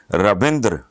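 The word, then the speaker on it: Ravindra: رویندرا ویسے لکھتے ہیں لیکن پڑھنے میں رویندر، جیسے جتیندر، جو اینڈ پہ آتا ہے نا وہ بس نہ ہونے کے دھرمیندر، ہلکا سا وہ آتا ہے اس طرح کر کے.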